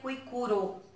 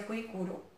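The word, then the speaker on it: Kuikuro: Na verdade, escreve Cuicugo, mas hoje, né, aqui no Brasil, a gente pronuncia Cuicuro, porque também não é de origem portuguesa, então a pronúncia é diferente. Está escrito Cuicugo, mas a gente pronuncia Cuicuro.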